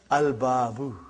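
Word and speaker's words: الباب: Okay, the next letter is ba. And it is written here, al-babu.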